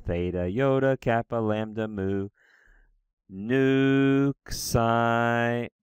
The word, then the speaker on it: nu: but it's not okay so nu is pronounced like the English in and you have to